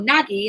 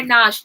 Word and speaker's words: Nagy: the Hungarian Uprising I said oh yeah well naggy and they were like the teacher said that's not how you say it's not sauce so there we go so in row Nagy takes over and he is much more popular